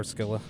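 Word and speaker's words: Scylla: So, I'll start with Sila, as I'll probably call it, or Skila, though, is how it should actually be pronounced.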